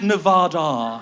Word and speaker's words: Nevada: It's pronounced Nevada.